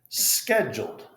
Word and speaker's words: scheduled: And this CH is a K. Scheduled.